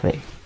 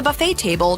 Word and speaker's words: buffet: mhm buet buet no it actually has two types of pronunciations the American pronunciation and the British pronunciation it's one of the